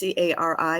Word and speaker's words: Carrie: My name is spelled as Carrie. It's Cari, and I get Cari a lot.